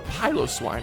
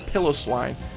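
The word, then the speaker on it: Piloswine: Evolutions say hello to pyos swine or pillow swine um I call it pyos Swan cuz I think that's how they pronounced it in the anime um which Kurt had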